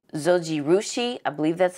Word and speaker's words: Zojirushi: So really do like this bread maker from, oh, I don't think I even said the name, Zojirushi, I believe that's how you pronounce it, but they're very famous with their rice makers.